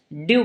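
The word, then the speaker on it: dew: हैं सबसे पहले तो इसे हम क्या पढ़ते हैं डू क्या पढ़ेंगे ड्यू पढ़ेंगे ठीक है ड्यू का मीनिंग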